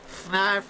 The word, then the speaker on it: Fnarf: Fnarf rhymes with barf.